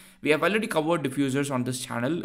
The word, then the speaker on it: diffusers: Library just remember that this is not f u s e it's u z e so diffusers is the right pronunciation I'm not an I'm